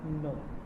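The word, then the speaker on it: know: डू यू नो के NOW को क्या पढ़ेंगे? नो, क्योंकि यहाँ के क्या है? साइलेंट है, तो नो पढ़ेंगे इसको।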